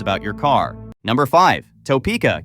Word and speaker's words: Topeka: Number five, Topeka, Kansas, pronounced Too Pika.